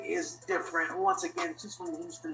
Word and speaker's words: Difernt: there listening and watching yes my name is different spells d-i-f-e-r-n-t so you guys know how to spell that uh thank you so much for having